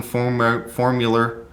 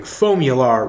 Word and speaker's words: Foamular: My co-host is Doug Homeyer, president of Owens Corning Formula Rigid Foam Fiberglass Insulation. Yeah. Is that right? That's not how you pronounce it, but yeah. How do you say it? Owens Corning Foamular Rigid Foam Fiberglass Insulation.